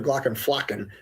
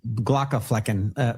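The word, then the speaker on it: Glaucomflecken: Because I used to call him Dr. Glockenflocken. I don't think that's correct. Glockenflecken.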